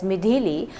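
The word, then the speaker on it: Midhili: into a cyclonic storm name mid pronounced as midili according to a latest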